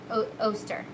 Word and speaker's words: Oster: and i'm pretty sure it was us oster poster toaster yeah oster um but